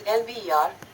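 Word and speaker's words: El Biar: Okay, अब इसको pronunciation अगर हम करें तो The pronunciation of Elbia, a suburb of Algiers, is Elbiyar.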